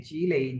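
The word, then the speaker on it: 积累: है, fourth tone में जो लई का मतलब होता है ना टायर्ड, करेक्टर वही है, लेकिन ये जी लई, यहाँ पे लई की प्रोनाउंसिएशन थर्ड टोन में है।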